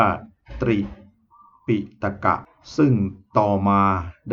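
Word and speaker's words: ตรีปิฎก: เนี่ย เขา เขียน ว่า ตรี ปิฏก ก็ คือ ตอเต่า รอ เรือ สระ อิ โปห์ ปลา สระ อิ ต่อ ปฏัก หรือ ดอชฎา นะ ดอชฎา ใน ไป รอ ชฎา นะ ครับ แล้ว ก็ คอ ก ไก่ อ่าน ว่า ตรี ปิฏก ค่ะ ซึ่ง ต่อ มา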